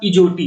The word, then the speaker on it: EJOTY: इसको कहेंगे आप इजोटी। क्या कहेंगे? इजोटी। इजोटी ये एक ऐसा वर्ड है जो बड़े ही आराम से आपको याद हो सकता है, इजोटी, ठीक है।